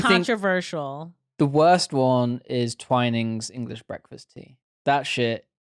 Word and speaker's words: Twinings: tea for a start i thought it was twinnings it's twinings is it twin it no it's got to be twining surely because it's it's the word twin and then n-i-n-g-s i